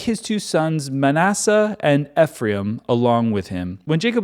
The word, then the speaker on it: Ephraim: two sons Manasseh and ephra which I think may actually be pronounced Ephraim um I've heard other people pronounce it Ephraim and I'm like why was I saying ephra this whole time but as you know